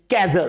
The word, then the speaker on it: cadger: My mind to लेट you know guys is कैजर। CADGER, कैजर। यस, आप लोग अगर चाहें तो इसको पेन एंड पेपर लेके स्पेलिंग नोट कर सकते हैं, CADGER, कैजर।